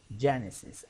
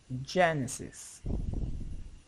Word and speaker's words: Genesis: Genesis. I will color it in red. The pronunciation in Spanish is something like that. Je. This is the accent or the stress. Je. Je. Je. Genesis.